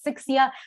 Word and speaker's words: Sixia: name um real quick the pronunciation as you heard is sixia that is my real